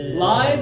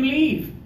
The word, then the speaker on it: live: we talk about it as a verb low tongue lots of air live is when something is happening